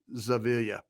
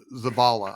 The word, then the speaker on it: Zavala: Bradford and Mafi and Zavilla, like that. Zavala. I'm sorry. Zavala. I keep saying it wrong.